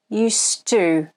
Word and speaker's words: used to: are connected and the two becomes a weak unstressed sound it sounds like this used to but at the end of a sentence it sounds more like you stu this happens when we